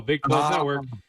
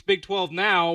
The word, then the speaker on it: Big 12 Now: So, I'm like, oh, Big 12 Network. But then I find out, oh, I've been saying it wrong. It's Big 12 now, which is just ESPN Plus.